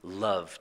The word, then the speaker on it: love: And to love, you also don't hear the E, so it's a silent E, and it's lived and loved, and of course only one E.